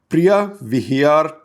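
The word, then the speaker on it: Preah Vihear: after ankor Vat a very important temple called Priya Vhyar Temple. I know in India we'll tend to pronounce it as Vihar but it's spelled Var.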